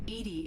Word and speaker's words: EDI: a jar why are you named edie edie is the phonetic pronunciation of edi that is an acronym for